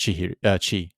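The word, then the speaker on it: 千: So, so when it's compounded with the other symbol, Sen then becomes pronounced Chi.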